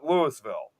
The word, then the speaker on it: Louisville: But the but the residents will correct you very quickly like, "No, it may be the same word, but over here we call it Lewisville."